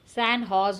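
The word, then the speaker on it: San Jose: यूएस ने क्या किया रिसेंटली, सैन जोस, सैन हॉज उसको हम प्रोनाउंस करते हैं, state of university जोस university में स्टूडेंट्स ऑनर्ड देम.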